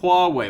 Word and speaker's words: Huawei: It's Hua, as in Hua, Hua, Hua, and Wei as in go that way.